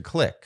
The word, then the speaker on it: clique: And but I think we usually say click. Oh, now you're making me insecure. I'm just pretty sure it's I mean, it's a French. The word is spelled clique. Okay. All right. You're right. It's just that in America, we've turned it to click.